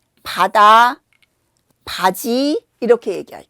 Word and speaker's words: 바다: 어 그래서 질문을 주신 바다와 파다를 가지고 어 얘기를 해 볼게요. 바다는 입술을 부드럽게 움직이고 바람이 나오지 않죠.